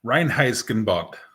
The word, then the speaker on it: Reinheitsgebot: Reinheitsgebot. All right, that's a word that I learned. Well, I learned how to pronounce properly.